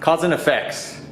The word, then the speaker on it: KHASNFX: Cousin Effects, but it's spelled KHASNFX. What was your first car?